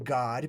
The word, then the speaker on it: Gad: forth so we've got GAD which is really pronounced God because the a is usually almost always pronounced as aa so we've got God